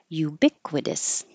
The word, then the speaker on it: ubiquitous: Ubiquitous, this T changes to a D, ubiquitous.